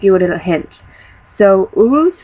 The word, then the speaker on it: Uruz: being said here's your first run it's called Urus and it's u r u z I will uh spell it out for you um right here in